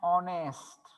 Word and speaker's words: honest: पण here also same की इथं आपण honest नाही म्हणायचं, ह चा उच्चार no, h is silent here.